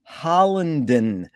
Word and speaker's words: Hollinden: a pleasure to be here today with hollandon is that the correct way to pronounce it yes it is yes where in